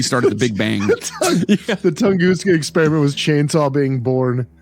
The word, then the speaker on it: Tunguska: I caused the Tunguska because it's a big one.